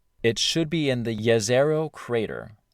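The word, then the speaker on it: Jezero: should be in the yazero crater it looks like it should be pronounced jazero but it's yazero yeah one of those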